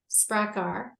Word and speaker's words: Sprakkar: And, the title of the book is Secrets of the Sprakkar.